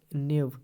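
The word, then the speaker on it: knave: नेव, नेव के साइलेंट रहेगा, KNAV, नेव। नेव मतलब होता है धूर्त, धूर्त मतलब जो धोखेबाज होता है या जो चालाक होता है।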